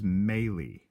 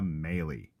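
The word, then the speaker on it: Mahle: and here's the deal folks the courage correct pronunciation for this gentleman's name is maily maily there are many Malee's around summer spelled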